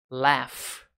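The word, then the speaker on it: laugh: Forest a good One o verbo rir esse GH tem som de F leth mas o s lifes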